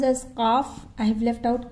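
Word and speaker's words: ق: Then Qaf till here. Qaf. Lam. Now in between I have left Kaf out. This is pronounced as Qaf.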